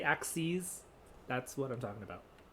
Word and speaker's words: axes: vertical number line um axes so it's pronounced ax c's like that is just the plural of axis so if i say axes that's what i'm talking